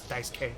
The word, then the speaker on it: Daisuke: forgot i remembered that they almost never pronounced the you i remember that uh there was this guy whose name was dice k on a baseball team